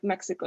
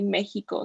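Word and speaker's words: México: But in Spanish you don't say like Mexico, you say Mexico, so it has like an H sound.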